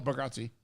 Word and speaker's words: Bargatze: So, real quick, Emmys, Nate Bargatze, Yep. and I might have said it wrong, No, Bargatze.